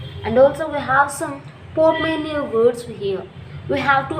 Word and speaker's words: portmanteau: Portmania. Okay. T silent. T is silent.